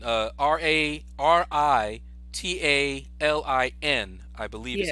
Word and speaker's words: Ritalin: Ritalin. Even though when I pronounce it, it sounds like I have a D in there, but that's just how I pronounce things.